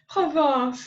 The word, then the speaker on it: Provence: Provence.